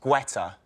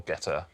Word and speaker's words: Guetta: Guetta. It's the correct answer. I like the way you're pronouncing it so that Debra can spell it. Spell Guetta or "Getta".